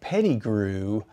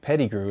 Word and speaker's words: Peddigrew: And so Dane Peddigrew popped into my head and I thought, I'm gonna do these quotes and make the quotes from a imaginary guy named Dane Peddigrew.